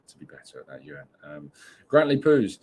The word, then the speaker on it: Jörn: Jörn says, always love your shows, but know your aim for perfection is my name is pronounced with a Y.